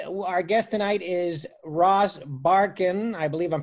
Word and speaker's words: Barkan: guest tonight is Ross Barkin I believe I'm pronouncing that right yeah that's good yeah like Ellen Barkin but the spelling is different different spelling yeah yeah